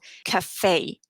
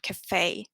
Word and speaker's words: café: And that means that the pronunciation of the E changes to an A. So for example, café. It's almost like an AY sound, café.